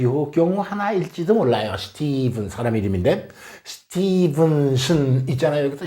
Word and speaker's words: Stephen: 스티븐 영어 기분 나쁩니다. PH가 이 V로 발음되는 아주 특별한 경우죠.